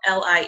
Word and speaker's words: Lie: Suzanne J Lee as well it's both li e but it's pronounced Li okay and yes and then you